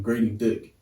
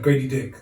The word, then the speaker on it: Grady Dick: They massively missed out, and now he's the next best young guy they got on their team, Grady Dick.